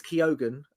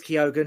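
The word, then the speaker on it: Keoghan: yeah Barry Barry it's actually it actually is kogen um I found out yeah he runs there he's he's amazing I know it's not pronounced uh kog think it is right um it is kogen he said it's a great I was doing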